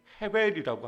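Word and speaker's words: הֶבֶל: 원래 히브리적 표현으로는 발음을 헤벨이라고 합니다.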